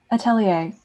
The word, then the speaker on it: atelier: you good doing good how do we properly pronounce the the name of your friend atelier okay i got it right great um uh like atelier print yes it means artist studio